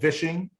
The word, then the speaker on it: vishing: next one here is called Vishing with a V and this one is